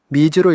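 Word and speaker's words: 水: 먼저 미즈또는 물과 라는 뜻인데 이 물수라는 이 한자는 음독으로 읽혀서 물이라는 뜻으로 쓰일 때는 미즈로 읽습니다.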